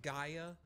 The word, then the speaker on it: Gaia: Giga Power. Yeah. Okay. It's pronounced Gaia, Luke. Gaia. Oh wow, that is okay. Wow, I've been saying that wrong the entire time.